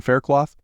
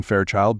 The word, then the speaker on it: Fairchild: "Wait, you said Jackson Faircloth?" I deliberately mispronounced his name to see her reaction. "You know his name is Jackson Fairchild, Bobby."